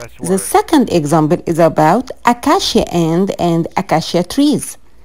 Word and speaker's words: acacia: five stressed syllables not one or two stressed syllables or stress the second example is about acacia and and akashia trees akashia trees has a huge trunk however i think you want to say acacia where the ants can live on the other